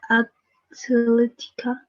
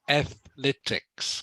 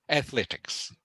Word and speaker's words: athletics: as the least popular sport was uh uh athletica okay it's pronounced Athletics can you say that for me please oh